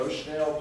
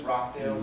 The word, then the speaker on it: Rochdale: Has everybody heard of the Rochdale pioneers, Rockdale pioneers? I believe is actually how it should be pronounced. They were in Rockdale or Rochdale is how most people hear it pronounced, England.